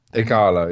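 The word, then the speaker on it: Ighalo: Igalo, yeah, that's fine.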